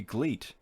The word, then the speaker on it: GLEAT: that the same way so it'd be gleat like bleat like billy goat like